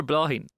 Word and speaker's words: Bláithín: Bláithín or Bláithín?